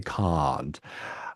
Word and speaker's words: Kant: is Immanuel, Kant, and I won't pronounce him properly, or else we'll get in trouble. But so I put it as you say in Britain, as you say, can't.